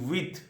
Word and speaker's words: huit: huit, with, huit, with.